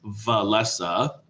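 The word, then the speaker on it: Wałęsa: I know it looks like Walesa, but it's pronounced Walesa.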